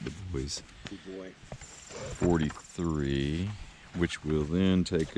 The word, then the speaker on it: Dubois: somewhere around the boys i would say dubois but i think they pronounce it the boys 43 which will then